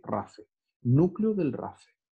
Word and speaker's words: rafe: Se producen en una región, chicas, que se pronuncia así, no se pronuncia rapé ni rafé, se pronuncia rafe. Así como decir rafa, así rafe.